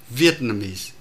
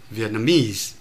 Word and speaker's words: Vietnamese: Tôi nói ví dụ như từ Vietnamese thì nó có thể có hai trọng âm Việt và Mies. Trong tình huống này, để đảm bảo cái nhịp điệu, chúng ta phải nói là Vietnamese, trọng âm rơi vào Việt.